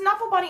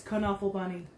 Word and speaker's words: Knuffle Bunny: wrong the whole time i thought it was knuffle bunny it's kanawha bunny now i know this book taught me something it's not knuffle bunny it's canuffle bunny and here they are here you can see